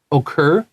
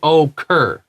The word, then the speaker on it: occur: You can say occur, but say it fast. Don't say occur. Say occur.